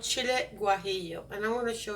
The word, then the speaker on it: guajillo: Now, it has something that's called chile guajillo, and I'm going to show you what they look like.